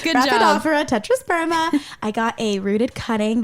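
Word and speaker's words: Rhaphidophora tetrasperma: And to top it all off, I bought a Raphidophora tetrasperma. I said it right. Good job. Raphidophora tetrasperma.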